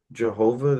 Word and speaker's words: Jehovah: Like it's it's not wrong. It's uh just using a J instead of a Y sound. Um so like the original like the shift of that was into Yhovah and then because of the transliteration into English where we started using J's for stuff including Jesus, that's how we got Jehovah.